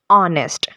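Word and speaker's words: honest: वो इसे पढ़ते हैं नेस्ट नेस्ट यह वर्ड नहीं है यहां पर एच जो है वो साइलेंट है तो यहां पर हम इसे इस वर्ड को पढ़ते कैसे हैं इस वर्ड को प्रोनाउंस कैसे करते हैं दैट इज ऑनेस्ट ठीक है तो यहां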